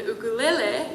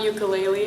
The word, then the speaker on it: ukulele: how to play the ukulele. It's not ukulele, actually. I didn't Side say, note. he said ukulele. I said ukulele. Good on you. Is that really how it's pronounced? Yeah, it's ukulele. Oh, I did not know that.